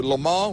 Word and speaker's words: Le Mans: Now, see, I always pronounce it Le Mans, but it's Le Mans? Le Mans. Drop the S.